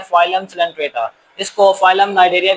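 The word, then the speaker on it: Cnidaria: इसको आप यहाँ सी जो है वो साइलेंट है, आप इसको नाइडेरिया पढ़ेंगे।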